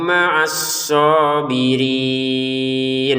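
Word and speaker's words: مَعَ الصَّابِرِينَ: Wallahu maasobirin. Shnya kita tekan kemudian panjang dua harakat.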